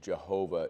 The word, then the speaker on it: Jehovah: not that smart um yehovah is probably as close as it comes Yahweh is a good interpretation Jehovah is the way we say it in English what's the point God